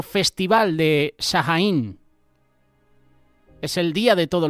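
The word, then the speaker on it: Samhain: o festival de Shaín. Es el día de todos los santos. Yo digo Sahajaín porque así es como lo pronunciamos aquí en España. Seguramente tiene otro nombre, Samein o como lo quieras llamar.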